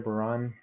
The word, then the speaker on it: Bahrain: I want to point out these different countries, especially this little guy down here, Bahrain, right above Qatar. That's how you pronounce it.